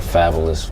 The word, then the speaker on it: Fabolous: It was like f a b o l o u s and I was saying fabulous to rhyme with vocabulus and I think he